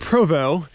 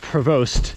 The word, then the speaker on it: Prevost: all right so today we are riding mount provo even though it's spelled provost it's mount provo but we have max